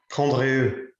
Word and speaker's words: Condrieu: The correct region, Debbie Long, is actually Coindreau, or how would you like to pronounce it? Because Steve's got a much better French pronunciation than I do. Condrieu.